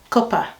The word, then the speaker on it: cuppa: So someone says, copper. It's spelled C-U-P-P-A, so copper.